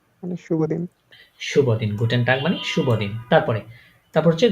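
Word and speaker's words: Guten Tag: একসাথে আচ্ছা ভাইয়া হ্যাঁ সবগুলার শেষে তো এন আছে মানে শেষেরটা শেষে এন হ্যা হ্যা শেষেরটা গুটেন না আপনার দেখেন উচ্চারণ করে না নিজেই উচ্চারণ করেন গুটেন না কেমন হয় না গুটে দুইটা এন একসাথে হয়ে যাচ্ছে না ওই কারণে তারা গুটে পরে এনটা বলে না তাই এন রাখে নাই তাই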